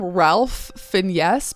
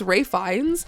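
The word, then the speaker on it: Ralph Fiennes: ] around and uh we call him Ralph Finest, but it's Ray Fines.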